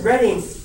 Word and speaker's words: Reading: the university of reading or is it reading already how did they pronounce it reading right okay universal redding and conducted at the